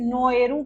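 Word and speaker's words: Naoero: सो इट is basically उन्होंने अपनी language के अकॉर्डिंग, प्रोनाउंसिएशन के अकॉर्डिंग इसको चेंज कर लिया एंड द न्यू नेम इज now spoken as नोएरू, नोएरू। So Nauru से नोएरू हो गया।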